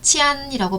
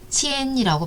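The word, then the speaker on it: 钱: 예를 들어서 도는 하나병음이 이렇게 생겼는데 치안이라고 발음하지 않고 어떻게? 그렇죠. 치엔이라고 발음해요. 성조 이성을 붙여서 치엔이라고 발음해요.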